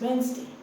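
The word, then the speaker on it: Wednesday: Upwards ascend then this is इज़ so much pronounced. Okay? This is नॉट वेडनेसडे। इट्स वेडनेसडे।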